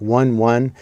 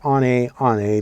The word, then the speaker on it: One One: know it looks like one one but apparently it's pronounced on a on a because it's french, but from now on